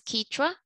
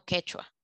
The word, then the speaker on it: quichua: Una corrección de pronunciación de la intérprete es quichua, no quechua.